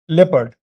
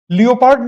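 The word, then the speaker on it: leopard: फिर हो गया लेपर्ड लियो पार्ड नहीं बोलते अगर आप लियो पार्ड बोल बोलते किसी को पाते हैं तो वह गलत उच्चारण कर रहा है और अगर आप करते हैं लेपार्ड तो आप मत कीजिएगा लेपर्ड कहते लेपर्ड ओके तो लेपर्ड हो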